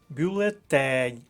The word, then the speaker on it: бюлетень: блоку і цього завдання бюлетень третій склад третя колонка Тень от з таким